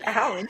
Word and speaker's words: Allan: I'm not lying about how to pronounce my name it's actually Allan I told you I